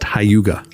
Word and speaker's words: Hygge: It's spelled Hygge, but it's pronounced Hyuga.